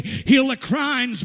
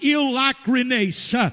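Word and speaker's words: εἰλικρίνεια: for the word sincere it appears to say heal the crimes but it is not pronounced that way it is pronounced ill Loughran ASA it is a two-part word the first part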